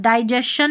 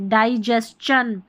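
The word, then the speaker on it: digestion: ये देखिए डाइजेस्चन, डाइजेशन नहीं पढ़ेंगे, डाइजेस्चन।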